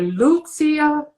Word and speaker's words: Lucia: music world yes and we call her lucia the emphasis in latvian is always on the first syllable thank you for thank